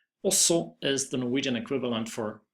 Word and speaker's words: også: Also is the Norwegian equivalent for also or to. We pronounce it like this. We say the O at the beginning as an O and the G is not pronounced.